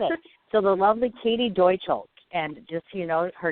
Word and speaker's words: Deutschle: a tricky one too yep Deutsch so if you think of Germany's Deutschland Deutch how you say it got it okay got it so the lovely Katie docho and just you know